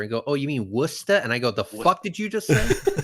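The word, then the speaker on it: Worcester: I had to drive through Wchester and go, "Oh, you mean Wora?" And I go, "The did you just say? It's Wora."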